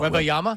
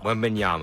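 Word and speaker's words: Wembanyama: Wembenyama. Wembenyama. Is how yeah. It's Wembenyama. Yeah, you go ban. Wembayama. You're trying to ban Wemby. Wembenyama.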